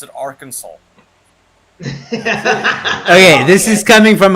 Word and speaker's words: Arkansas: state that is spelled all Kansas but they pronounce it Arkansas okay this is coming from a country who